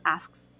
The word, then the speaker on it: asks: So yeah, when you say the S sound, even some native people have issues pronouncing that as well, and even me. So the way I said it's kind of weird. So you say ask, then after. I say it quickly now, so it's asks.